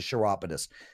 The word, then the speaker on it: chiropodist: can I tell you it's even spelled like Cairo but it's a chiropodist Nick I'm out of